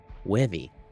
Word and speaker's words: Wevy: Wevy is how you say his name.